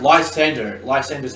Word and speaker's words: Lysandre: Also, I found out Lysander's how you pronounce it.